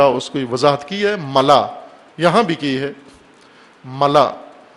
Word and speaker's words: ملا: کو وضاحت کی ہے، ملا، یہاں بھی کی ہے، ملا، ملاح نہیں ہے، غلط تلفظ کرتے ہیں بعض، ملا، میم لام الف حمزہ، ملا حمزہ کے ساتھ، خلا جس طرح کہتے